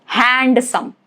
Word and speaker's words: handsome: or handsome handsome. It's not handsome. Handsome.